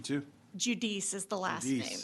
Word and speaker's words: Judice: Chair calls Judas. We have you registered as Judas, representing Tex Protects, testifying in favor of the bill. Is that correct? That's correct, Chairman. Is that the correct pronunciation too? Judice is the last Judice.